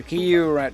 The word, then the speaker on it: Q-Rinder: Q, it reads here, Q-Rinder. Do not pronounce this like Grinder, people will just get confused the hell out of you.